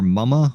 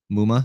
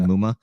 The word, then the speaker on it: Muma: Is it Chad Muma or Mumma? How do you pronounce his last name? Muma. Chad Muma.